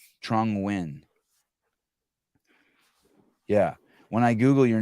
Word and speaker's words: Nguyen: And Nguyen, you pronounce it, W-I-N. That's correct. Trung Nguyen.